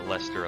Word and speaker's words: Leicester: of the Leicester Alliance now I keep saying leister Alliance whatever Leicester alliance will go with their pronunciation for now at least until they forget